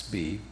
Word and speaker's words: Bee: asks Be, pronounced like the letter B.